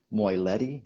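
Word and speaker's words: Moylette: an irish boxer by the name of ray moiletti is that pronounced correctly yes and rey is a saint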